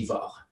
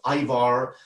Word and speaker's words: Ivar: And I'm Norwegian, so the Norwegian pronunciation of my name would be Ivar. But I realized that depending on where you are in the world, Ivar or Ivar may be easier for you.